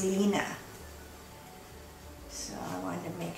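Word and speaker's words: Line: Because I know someone who's from Denmark, and her name is spelled L-I-N-E, but it's actually pronounced Lina.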